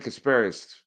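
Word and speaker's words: Casparius: series against the Mets they didn't use uh casparus is that how you pronounce his name uh uh yeah Ben casparus the Connecticut kid who pitched well in the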